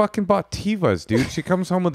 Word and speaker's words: Teva: israelis that listen that i wasn't pronouncing it according to the semitic the biblical pronunciation teva she